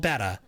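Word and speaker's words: betta: It's called betetta fish." No, it's not. It's called beta. Um, and it's not a regional thing either. The people who's call who call the fish beta are literally just pronouncing it wrong.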